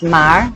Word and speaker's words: mer: The root of the name word Veronica is from the word mer, pronounced mar, meaning a hand.